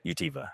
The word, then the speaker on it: Utiva: Um I'm pronouncing it right? Utiva.